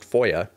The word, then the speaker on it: FOIA: typically referred to by its initials and pronounced foia the act has a